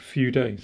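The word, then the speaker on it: Fude: I've used a sailor Feud a pattern before and someone very kindly I pronounced it Feud but apparently it's a few days so a few day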